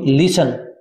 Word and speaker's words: listen: अब यहां पर देखो अभी लिसन, इसमें टी साइलेंट है, LISTEN, लिसन में क्या बोलेंगे इसको भी? लिसन, लिसन में टी साइलेंट है, टी का उच्चारण नहीं होता कभी भी।